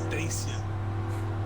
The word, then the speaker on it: Dacia: Dacia, it's Dacia.